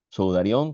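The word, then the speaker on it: σουδάριον: Sudarión que no lleva acento en la O. El acento lo lleva en la A, pero no se pone.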